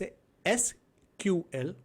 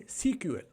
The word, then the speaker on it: SQL: Many people pronounce it as a SQL, or some developers do refer it as a CQL.